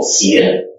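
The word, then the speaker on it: Xian: Oh, Sien? S-E-apostrophe N. X-I-A-N. Sien. Oh, X? Yes, Sien. Not X. Sien.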